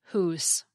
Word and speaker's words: hus: However, in the Middle English period, that final a sound got dropped completely, so that whether the word was spelled H-U-S or H-U-S-E, it was pronounced hoose.